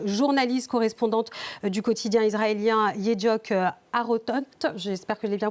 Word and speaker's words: Yediot Aharonot: À vos côtés, Tamar Sebog, journaliste correspondante du quotidien israélien Yediot Aharonot. J'espère que je l'ai bien prononcé. Yediot Aharonot.